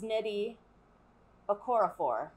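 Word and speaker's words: Nnedi Okorafor: here's the book cover and the author is neddy okorafor and i don't know why that was so hard for me it's pronounced exactly how it's spelled but there's like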